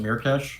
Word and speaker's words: Myrkesh: is it merh Mir cash Mir cash I pronounce it mirkes but uh if you think of it like